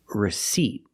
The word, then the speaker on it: receipt: receip but receipt and remember the p is silent don't pronounce that P receipt this is a